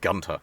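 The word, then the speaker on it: Günter: I know it's pronounced Gunter, but we're going with Gunter.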